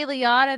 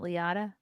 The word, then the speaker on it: Liotta: Ray Liotta than Joe Pesci.